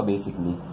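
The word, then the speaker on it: basically: जोड़ देते हैं, तो यहाँ पर जो ये ICALLY जोड़ देते हैं तो ये ए साइलेंट हो जाता है, ठीक है। जैसे कि ऑटोमेटिकली ऑटोमेटिकली, तो इसके लिए यहाँ पर ये जो ए है साइलेंट हो जाता है, ठीक है। दूसरा वर्ड आपका बेसिकली, तो यहाँ पर ये ए साइलेंट हो जाता है, चेंज हो जाता है बेसिकली।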